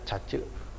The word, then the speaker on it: cache: kenal dengan cache ya ditulisnya cache dibacanya cache Tak hanya itu kalau